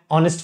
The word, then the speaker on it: honest: ఇక్కడ చూడండి, H ఈ మూడింట్లోనూ H is silent. An R, don't say an hour, it is an hour. ఇక్కడ an air, an honorarium, an honorable man, okay, an honest person.